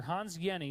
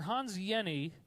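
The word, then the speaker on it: Hans Jenny: the study by Dr Hans Yenni that's how you pronounce that name even though it looks like Jenny the J is silent it's like a y so Dr Hans Yenni studied a drop of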